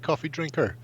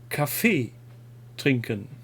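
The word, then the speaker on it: Kaffeetrinken: properly pronounced then because i'm assuming it's not pronounced coffee drinker no it's coffee trinken so it's a basically just a pause because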